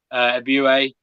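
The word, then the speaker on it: Ebiowei: I think Abiwe. I watched the video, so I know how to pronounce his name now. Abiwe is.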